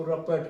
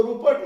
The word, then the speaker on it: रपट: जाए तो छोड़ेगा, उसको रपट के पकड़ेगा। इसको रुपट नहीं पढ़ेंगे, रपट का उच्चारण करेंगे।